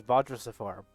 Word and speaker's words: Vajra Safar: don't know how to pronounce it. It is. The name is Vajra Safar.